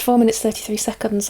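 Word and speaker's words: 4′33″: John Cage's 4 minutes 33, it's pronounced 4 minutes 33 seconds apparently, is arguably one of the most revolutionary and debated pieces of music in the 20th century.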